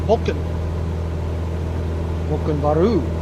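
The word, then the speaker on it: Volcán Barú: 500 feet and uh they pronounce their volcano we would say volcano Monroe volcano Monroe but they call it Vulcan baru so we do have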